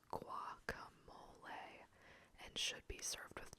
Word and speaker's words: guacamole: It is pronounced guacamole and should be served with chips or crackers.